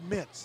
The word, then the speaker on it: Meents: But it's Boyd Mintz is how they pronounce that.